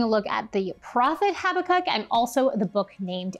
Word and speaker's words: Habakkuk: His name means embracer, and it's actually pronounced Habakkuk.